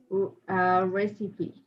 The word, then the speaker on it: recipe: And this one, how to pronounce it? Recipe. Yes, Recipe.